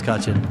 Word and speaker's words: Cutchin: Yeah, I mean, hey, look, you would be surprised at how many people mispronounce this. So it's almost to the point where I don't even hear it half the time. But yes, it is Cutchin.